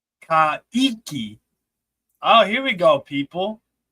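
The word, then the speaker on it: Kayky: So K A Y K Y is like Kiki.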